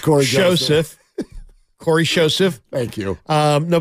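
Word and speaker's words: Cory Joseph: And Corey Joseph, standard pronunciation. Yes, it's not Corey Joseph. It's just Corey Joseph.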